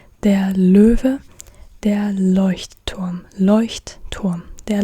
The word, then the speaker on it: Leuchtturm: Der Löwe, der Leuchtturm. Der Leuchtturm. Like it has a double T, like it's made out of two words. Leuchtturm. And that's why a lot of people just say Leuchtturm, but it's Leuchtturm.